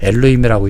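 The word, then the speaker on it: אלוהים: 엘로힘이라고 읽는 거거든요.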